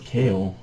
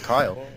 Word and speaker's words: Kyle: Is it Kyle or Kale? That's how you pronounce his name, Kyle the Third. Oh, I thought it was Kale. It's Kyle. Kyle.